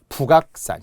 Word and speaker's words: 북악: 북악산, 청와대 뒤에 북악 스카이웨이 뭐 이런 거 있잖아요. 그러면 여러분이 북악이라는 것의 기억이 받침에 2개 있는 것으로 분명 보이죠. 그러나 발음은 그렇지 않잖아요. 발음은 연음이 되어 북악이 되죠.